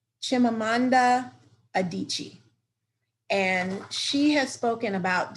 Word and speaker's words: Chimamanda Adichie: She's a Nigerian novelist, and I'm saying her name like Chimamanda Adichie.